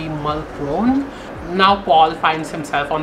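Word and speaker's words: Mulchrone: But it spells M-U-L-C-H-R-O-N-E. So in like typical like American pronunciation, it would be Mulcrone.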